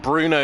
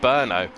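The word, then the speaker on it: Brno: we've just been able to discussion how to pronounce this track's name we've all been calling it bruno in the previous times and uh by the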